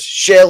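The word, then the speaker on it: Kjell: So I think he's called Shell. I think it was pronounced. It was Kettle Olafson, right? But it was Shell Olafson, wasn't it?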